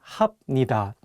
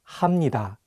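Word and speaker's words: 합니다: pronunciation changes for example if you just read the hunger on their own you might want to say ibnida and hapnida but the correct pronunciations are actually imnida and hamnida the another constant sounds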